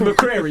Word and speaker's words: McCrary: It's McCrary, not McCrary.